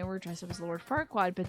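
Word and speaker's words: Farquaad: dressed up as Lord far wad but they pronounced it as f word wad I was like that's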